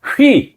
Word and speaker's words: 휘: 휘! 네. 여러분. 휘파람 할 때 휘가 진짜. 아니고 휘! 예.